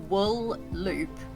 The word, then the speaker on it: Wooloop: So it's like wool loop, but only one L, if that makes sense.